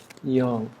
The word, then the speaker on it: Yang: So the a I don't know why they spell it with an a but here in Taiwan we would pronounce that yong.